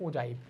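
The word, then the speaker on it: ogive: उसको क्या कहते हैं, ओजाइव कहा जाता है, जिसका इसको क्या कहते हैं, उसका उच्चारण भी हम ओजाइव ही करते हैं।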